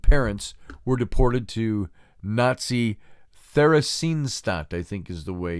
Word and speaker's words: Theresienstadt: his wife and parents were deported to Nazi Theresienstadt I think is the way you you pronounce that Theron Theresienstadt that it was a ghetto just like think